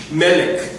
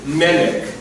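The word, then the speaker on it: מלך: Melech. King. Melech. So the emphasis, when you have the double short E, the emphasis will go on the first, almost always will go on the first syllable.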